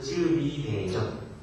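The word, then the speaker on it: 赤壁大戰: 대군을 무찔렀다 그래서 이것을 쯔비대전. 최근에 이것을 영화로 만들었는데 그게 바로 적벽대전이라는 뜻입니다. 한국말로 읽으면 적벽이고요. 여러분 중국어로 읽으면 쯔비라고 읽습니다. 여러분 이 적벽대전에서 제갈량의 진정한 모습이 등장합니다.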